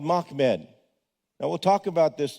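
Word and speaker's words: Μάμεδ: It's not Muhammad. It's only two syllables, Mock Med.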